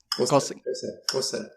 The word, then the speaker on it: Xhosa: Xhosa? Xhosa.